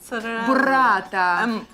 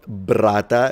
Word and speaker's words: burrata: It's not brata, it's burrata. As Ollie was saying, you've got to pronounce and enunciate every letter. There is a U, so it's burrata.